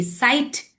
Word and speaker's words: sight: So when we say sigh, when we say sight, so we are getting the sound of sir, we are getting the sound of T if it is sight, and we are only getting one sound of I and GH is silent.